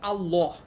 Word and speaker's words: আল্লাহ: ঠিক আছে, তারপরে মনে করো হচ্ছে এই যে আমরা বলি আল্লাহ, এটা কিন্তু আরবিতে হচ্ছে আল্লাহ। ঠিক আছে, এই যে লাম আর ল এর মধ্যে কিন্তু উচ্চারণগত স্লাইট ডিফারেন্স আছে। লাম, অ্যারাবিকের লাম আর বাংলার ল, দুইটার মধ্যে কিন্তু উচ্চারণের কিছুটা পার্থক্য আছে।